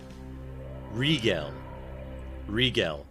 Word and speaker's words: Rigel: But I don't actually know how you're supposed to pronounce it, whether it's a hard or soft sound for the G. So Rigel.